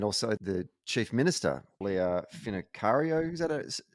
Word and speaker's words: Finocchiaro: Jacinta Price, and also the Chief Minister, Leah Finocchiaro, is that how you pronounce it? Finocchiaro, yeah.